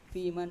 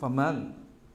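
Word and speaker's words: فمن: Am hiya mubayyinatun lil mujmali alladhi fil kitabi fayakunu hukmuhuma hukma rasi fil wujubi fi man aujabuhuma. Faman bukan fiman.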